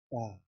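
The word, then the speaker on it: ت: The next letter is Ta, which is pronounced by touching the tongue's tip to the root or front upper two teeth, the point from which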